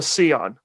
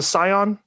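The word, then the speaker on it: Sián: But they recently debuted a very limited production car called the Scion, or the Scion. It's an Italian word I might be mispronouncing, but it's spelled Sian.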